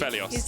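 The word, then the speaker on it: Aphelios: It's a Phelios, yeah, because he's a fella. He's a fella. That's not where it comes from at all, but that's how I use it to remember how to pronounce it.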